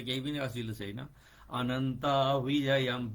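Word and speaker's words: अनन्तविजयम्: अनन्त विजयम विजय हैन है फेरी अनन्त विजयम राजा कुन्ति पुत्रो युधिष्ठिरह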